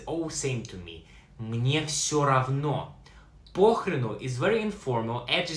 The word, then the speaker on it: все равно: Pronounce все равно.